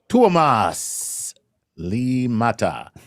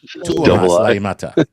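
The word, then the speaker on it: Tuomas Liimatta: All right, this is Tuomas Limata. Okay. Tuomas Limata. How do you spell it? Okay, TUOMASLIIMATTA. Laimata. Tuomas Laimata.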